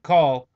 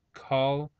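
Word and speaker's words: Caul: Deep Cover Green Lantern call I think that's how he's pronounced his name c a u l call and um basically he's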